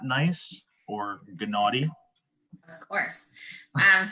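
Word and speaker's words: gneiss: and what is not nice or gennady of course so nice nice yes the g is silent um it's also high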